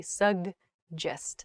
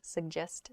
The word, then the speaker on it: suggest: by a j sound suggest GJ quickly happens there suggest what do you suggest um that's a tricky one so practice slowly suggest suggest suggest fun okay anyway so